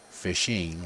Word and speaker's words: phishing: Types of social engineering attacks are phishing, pronounced as fishing, like you're going to go fish in a lake or something like that.